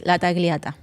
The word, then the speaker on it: Latagliata: Cuz I don't want to like Well, how I say is Latagliata. Lataglata. Latagliata. Latagliata. Yes.